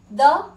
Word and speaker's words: the: तो जहां पर भी इस तरह से कॉन्सोनेंट्स आएंगे किसी वर्ड के फर्स्ट लेटर में, वहां पे हम लोग द प्रोनाउंस करेंगे।